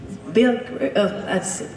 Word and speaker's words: Bilgert: Christian Schneider, Bilgert. Yeah, how is it pronounced? Bilgert. Yeah, that's very Swedish.